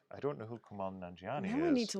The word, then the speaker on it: Nanjiani: Rebecca Connor says that's when you realize that everything has Kumal Nanjiani in it. I don't know who Kamal Nanjiani Now is.